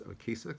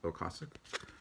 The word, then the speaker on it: Ocasek: produced by Ric Ocasek actually think that's how you say his name I always said it as a key sick but I believe those in the know say it's Ocasek it's kind of a